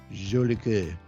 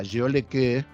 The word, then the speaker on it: Jolicoeur: So it's Mike Tapper and it's Marc Jolicoeur. Oh, a little French. Yeah, Jolicoeur. And he made it like, because at first it's like is it Jolicoeur?